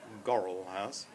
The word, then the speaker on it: Gorwell: house called gorwell house which is pronounced around here gorilla house and it means muddy well and we experienced some